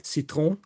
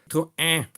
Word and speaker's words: Citroën: So you often say citron, which is a melon in French. Citroën.